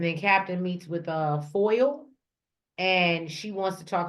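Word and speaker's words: Foyle: WP over food like f o y l e when it's spelled like that that's a last name but it's foil oh okay I think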